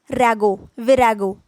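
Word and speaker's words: virago: Okay तो इनको इसका प्रोनाउंसिएशन क्या है, विरागो, ठीक है।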